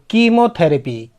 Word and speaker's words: chemotherapy: फिर CHEMOTHERAPY, कीमोथेरेपी।